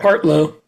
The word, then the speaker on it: Partlow: Now, Rick, am I pronouncing it right? Partlow or Partlow? What do you prefer? Partlow.